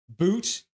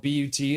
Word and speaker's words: Boot: Boot puts it down low. His name is spelled but T. It's boot, not butt, apparently, but I was going to say butt.